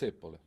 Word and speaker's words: zeppole: How do you say Zapalas in Italian? It's zeppole. Zeppole.